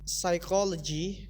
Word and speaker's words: psychology: Okay, P can be silent in certain words, particularly when it appears in combination with the others, such as receive, psychology, and psycho.